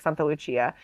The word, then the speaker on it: Santa Lucia: know the northern Europeans but in Italian in Sicilian it's like Santa Luchia and then there's like